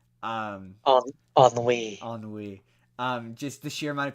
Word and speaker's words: ennui: But no, I mean the funny thing about Inside Out 2 for me is how nobody can pronounce ennui. Um, on on the Wii. ennui.